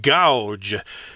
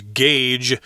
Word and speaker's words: gauge: And I did want to mention that this word gauge here is very tricky because the spelling kind of suggests that you should pronounce it gouge, which is weird.